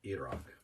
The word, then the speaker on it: Iraq: Some stuff happened in Pakistan and Iraq, which is properly pronounced Iraq.